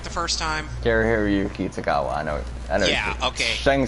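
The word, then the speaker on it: Cary-Hiroyuki Tagawa: Kari Hiroyuki Tagawa, I know. Yeah, okay. Shang Tsung. Okay, yeah, I did let's say get that right. The first time. They had both Mako Iwamatsu and Kari Hiroyuki Tagawa in that movie.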